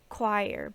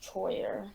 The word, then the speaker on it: choir: to pronounce it's like choir but yeah it's not pronounced how it's spelled yeah yeah it's kind of confusing it's really english it's confusing like that like i thought it was pronounced troyer like when i was